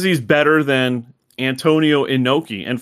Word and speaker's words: Inoki: He says he's better than Antonio Inoki, and for some reason Callis pronounced it Onoki.